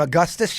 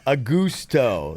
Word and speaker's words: Augusto: What were we calling him, Augustus yesterday? Augusto, yeah. Augusto is how you pronounce it.